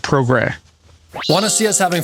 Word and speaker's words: Progrès: A lot of people assume it's called the Progrès. It is not an English word, and so this is the French word for progress, but it's pronounced Progrès.